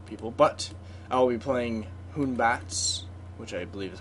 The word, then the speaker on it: Hun-Batz: Welcome back to more SMITE with the new god Hun-Batz, who is the Wukong makeover.